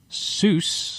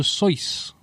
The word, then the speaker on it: Seuss: He is called Dr. Seuss. Oh. It's pronounced like S-O-Y.